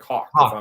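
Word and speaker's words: Haugh: he is it that he spells his name h-a-u-g-h and he pronounces it like the bird like hawk yeah yeah it's thomas hawk but it's this i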